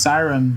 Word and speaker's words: Kyron: four and a half is pronounced siren who just won against